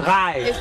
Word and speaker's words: Schrei: Ai, és crei. Schrei! M'estàs gravant? Schrei! Springnitz, què més? Schrei! Es pronuncia Schrei.